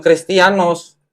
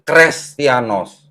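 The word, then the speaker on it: Χρηστιανός: atau Eta bacanya ini dibacanya Bukan kristianos tapi krestianos beda arti ya itu ya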